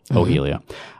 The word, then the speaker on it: hojilla: but if you need to know how to spell it h o j i l l a ohia uh you've got kiss your boys and Pinocchio